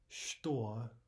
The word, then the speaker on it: что: So note, for example, we say что, that's the Russian for what, что, instead of что, что. Right, so instead of ch, we're actually saying sh, что.